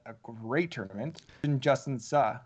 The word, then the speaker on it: Suh: And then from our sleepers, I mentioned Tyler McCumber, who had a great tournament, and Justin Suh, who I think I was pronouncing wrong as Sue, but it's Yeah, Justin no, I Suh.